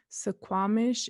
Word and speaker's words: Suquamish: Suquamish in and of itself is the Englishized way to pronounce our people.